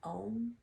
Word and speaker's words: Om: The sound of the Ajna chakra is Om. A-U-M, pronounced Om.